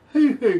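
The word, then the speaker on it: huhu: lifted, but have you ever heard of a hoo-hoo grub? Can you say that one more time? Hoo-hoo grub. It's spelled H-U-H-U, grub.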